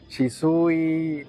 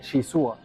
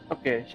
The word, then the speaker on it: Shizuo: me cambian el nombre de que sushi, Shizu, Shizui, Chaizu, o sea, me han dicho de todo, pero pues no me molesta. Yo sé que es un nombre bien complicado, pero se pronuncia así bien, Shizuo, Shizuo.